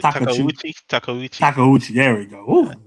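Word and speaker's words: Takeuchi: John Takachu. Takauchi. Takauchi.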